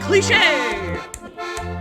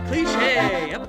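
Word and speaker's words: cliché: have that accent mark it's just telling you how to say the word say it again cliche cliche Y in friends we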